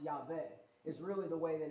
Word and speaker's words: Yahweh: there Yahweh or yah Yahweh is the way we're pronounce it in English because W makes more sense saying W in English but really it's pronounced yve is really the way